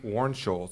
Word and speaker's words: Warnsholz: and I'm gonna read this so that I pronounced it correctly but it's Jordan and Emily Warren Scholes did I say that correctly that's correct guys